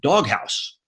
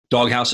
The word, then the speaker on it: Dog Haus: he's the senior vice president of marketing at dog house dog house is spelled with an h-a-u-s for those of you